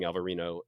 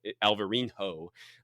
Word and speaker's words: Alvarinho: super reserve of sparkling alvarino alvarinho uh which is Al alberino um but that's the Portuguese spelling of it and and pronunciation of it with an h and yeah from the